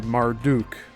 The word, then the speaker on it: Marduk: the salt waters, and is eventually divided by Marduk, M-A-R-D-U-K, while in Genesis the same concept is reflected in God dividing the waters above and below with the firmament.